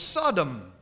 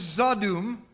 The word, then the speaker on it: Zadum: They got misspelled and mispronounced by European settlers as Sodom, because it was a more familiar sound to them from the Bible. But the word is Zadum, and it means sacred meadow.